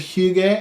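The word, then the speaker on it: hygge: huge a game you guys ever heard of Hugh gay I think I'm pronouncing it correctly Hugh gay is like the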